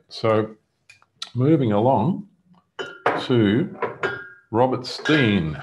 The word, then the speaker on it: Stein: moving along to robert steen it looks like stone but they pronounce it steen and this is from